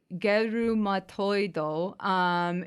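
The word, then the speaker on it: ゲルマトイド: His name in Japanese is pronounced Gerumatoido.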